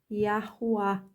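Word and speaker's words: יהוה: Essa consoante vocálica Vav, ela tem som de U. Então, ele vai formar o H com o U, e é Ru, e o atônico no final, Yahuá. O nome do filho, aquele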